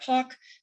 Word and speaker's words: POC: poc outreach core consortium we pronounce that park that sweary is collaborating